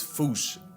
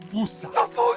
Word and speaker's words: fossa: apparently the correct way to say it is foosh, like foosh with a performance anxiety at the end. Experts feel free to correct me, but apparently that is the closest to the OG Malagasy pronunciation. It's just that the global game of telephone has Americans saying fosa, while England pronounces it as fossa.